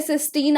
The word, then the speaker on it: cystine: ये वाला जो सिस्टीन होते हैं, दो ऐसे सिस्टीन आपस में जुड़े होते हैं और एक चीज बनाते हैं जिसे बोलते हैं सिस्टीन। प्रोनाउंसिएशन सेम है, स्पेलिंग डिफरेंट है।